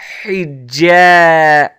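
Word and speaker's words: حجاب: Hijab.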